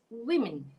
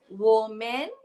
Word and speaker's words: women: This should be read as women. Women. Ada bunyi ih. Ih kat sini dua-dua. Wah, ih, women. Women. Yeah, okay. So it's not woman. It's not woman. It's women.